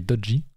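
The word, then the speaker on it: Doge: vous saviez d'ailleurs que les Américains enfin les anglophanes ne prononcent pas Dodge mais dodgi voilà c'était une info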